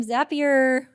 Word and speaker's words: Zapier: next we founder demos Mike from zapier which rhymes with happier is uh is gonna